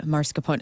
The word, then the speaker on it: mascarpone: Number 2 is mascarpone.